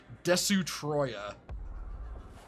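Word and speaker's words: Destoroyah: to name it the the literal pronunciation of of a destroyer in in Katakana which is des Troya oh boy there's a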